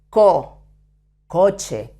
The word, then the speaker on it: coche: C-O, coche, car in Spain.